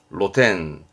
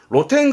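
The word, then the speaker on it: 露店: 그래서 그런 지붕이 없는 가게를 노점 그러는 거죠 발음은 로덴 로텐 로텐 그럼 이것도 오르실걸요 요거요 노천 그렇습니다 노천탕이죠 발음은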